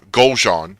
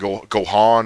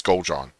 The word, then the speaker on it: Goljan: Now, the other triarchs, Brent Kulik and Goljan is how you pronounce that. A lot of people have things like they spell like a French, like Gohan or like no, it's Goljan. Think of it as two different words: Gol, Gol, and Jean.